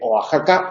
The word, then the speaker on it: Oaxaca: sur de Los Estados Unidos estoy pensando en Oaxaca por ejemplo que se escribe oaca y y se dice Oaxaca o Oaxaca sería un caso de de sinéresis